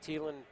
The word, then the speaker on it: Thielen: So the Thielen versus Thielen matchup that we've been waiting for here. Again, they spell their names different. They both pronounce it Thielen.